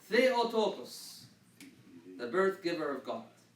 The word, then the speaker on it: Theotokos: This letter is always a TH. It's always a TH. Okay? Very common word that we see, and every other letter here you recognize. Theotokos, the birth giver of God.